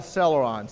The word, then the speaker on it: Celeron: Intel Celeron, spelled with a C, C-E-R-L-E-R-O-N, Celeron.